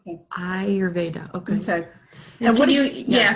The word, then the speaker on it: Ayurveda: Yes, it's Ayurveda, and it's pronounced Ayurveda, like your eye. Okay. Ayurveda, okay.